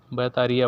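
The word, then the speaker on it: بطارية: या इंग्लिश में, लेकिन अरबिक में इनका जो उच्चारण होता है थोड़ा सा अलग होता है, बोलते वही हैं। मैंने इसको यूनिक वर्ड्स में शामिल किया है। बैटरी को हम लोग बैटरी बोलते हैं, ये लोग बैतारिया बोलते हैं।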